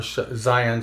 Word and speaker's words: Xi'an: So one of those new ships was a Cheyenne Scout, or Zion Scout, Cheyenne, whichever. It's spelled Xian, and it's the Khartu.